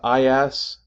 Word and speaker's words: IaaS: years how about this these three acronyms each of them four letters long pronounced I ass pass and sass now respectively they stand